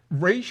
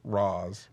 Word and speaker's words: Ra's: Raish is apparently the appropriate title. way to pronounce it. The way all of us have been pronouncing it for a while is Roz.